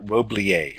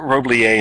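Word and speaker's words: Roblyer: of this work by a researcher named Margaret Roblier. Her name is spelled R-O-B-L-Y-E-R. This article was first published in the ISTE scientific their journal of technology in schools. Margaret Roblier and John Marshall studied an online school, and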